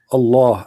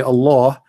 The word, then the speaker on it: Allah: You say Allah, the H is really strong.